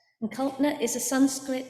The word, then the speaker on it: Kalpana: those that don't know me my name is pronounced copner the second day is silent and cultner is a Sanskrit name that means imagination and